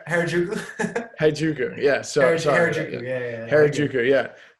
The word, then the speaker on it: Harajuku: I'm saying Harajuku.